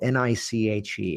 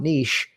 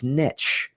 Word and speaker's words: niche: that word that's spelled ni c h e how is that pronounced it's not nice it's niche because niche rhymes with rich when you take it